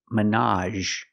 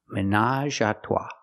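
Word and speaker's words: ménage: in a romantic way pronunciation Minaj again we have the a sound at the end Minaj there's even a brand of wine with this name and we pronounce it Minaj three people together in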